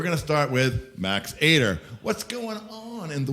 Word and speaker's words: Ater: Ater, A-T-E-R. Yeah, so that's kind of my life right now. A-T-E-R. There we go. Yeah, Yeah, you got to say it right. Yeah. Ater.